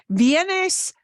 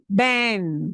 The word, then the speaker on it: ven: So, vienes, cut off the S. Viene, that's not it. It's Bien. Ben. Ben. Ben.